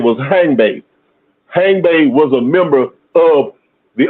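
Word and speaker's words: Hangbe: And hang is spelled H A N GB E. Hang bay.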